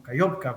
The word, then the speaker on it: Kajovka: En el caso específico de esta planta, de la represa de Nova Kajovka, ¿verdad? O Kayovka, como también se le pronuncia algunas veces.